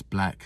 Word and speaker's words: Blaque: So that's Black spelt with B-L-A-Q-U-E, then Falcon, of course, the bird, like the Millennium Falcon from Star Wars.